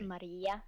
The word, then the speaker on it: Marie: It's pronounced Maria in Norwegian.